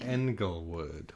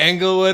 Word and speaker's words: Englewood: Englewood. Like England. Yeah. It's spelled with an E.